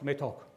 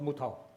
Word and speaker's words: Metok: of Pang District now they can't pronounce metto they pronounce mut Chinese so they will take